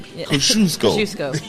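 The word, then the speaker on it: Kosciuszko: called it out after I messed up and said kazuk cuz nobody can pronounce it no nobody now you can kusco kusco um uh that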